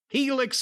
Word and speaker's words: Helix: And Helix, of course, is pronounced Helix and spelled H E L I. Just think about Felix but with an H.